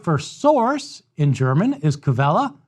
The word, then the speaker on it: Quelle: The word for source in German is Quelle, spelled with a Q. Q-U-E-L-L-E, Quelle.